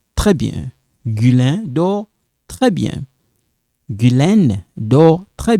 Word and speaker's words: dort: Il dort. You don't pronounce this.